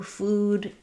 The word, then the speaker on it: food: And then for ooh food, new food, um food in the room, um too much food can help you get that that ooh sound.